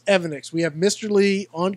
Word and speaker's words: Evanix: Is it Evanix? Is it Evonix? What is the answer? And Mr. Lisa, he said Evanix. Evanix. That's what it is. We know now for sure. So, it's Evanix.